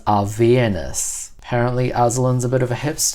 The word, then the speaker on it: Avernus: And apparently, it's pronounced Avernus.